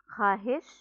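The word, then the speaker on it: خواہش: Sometimes in a word we write letter vav but we don't pronounce it. And that is known as vav madula. Misal ke taur pe, for example, khud, khahish, khush, khab, खामखा, दस्तरखान, खुशी।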